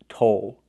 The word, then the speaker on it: toll: The second word is toll. With this word we use the long O, like know and go, but we have a dark L at the end.